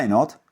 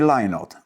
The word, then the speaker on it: Lynott: Nazwisko wymówione Lynott jest tożsame z brzmieniem słów lie not, czyli nie kłamię. Czyli jak twierdził Phil, wymawia się Lynott, bo nie kłamie.